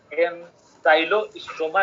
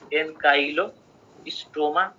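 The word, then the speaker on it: Ancylostoma: है एन्काइलोस्टोमा डुओडेनाली है तर एन्साइलोसम्म ठिक छ एन्काइलोसम्म ठिक छ सबसे बेस्ट उच्चारण यसको एन्काइलोस्टोमा डुओडेनाल है अनि एन्साइलोसम्म पनि ठिक छ तर एन्साइक्लो नभनौँ के किन भनेर त CYCLO छैन है CYLO मात्र छ कि एन्साइलो अथवा सबसे बेस्ट एन्काइलो भनेपछि एन्साइलोस्टोमा डुओडेनाली हामी के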